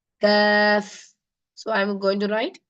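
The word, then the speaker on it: كاف: a small calf inside this letter is called CF so I'm going to write k a a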